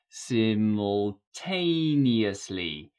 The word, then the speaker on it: simultaneously: today's word is simultaneously simultaneously the stress is on the third syllable simultaneously check it's an a